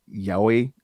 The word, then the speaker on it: yaoi: The how do you pronounce it? The yaoi crowd.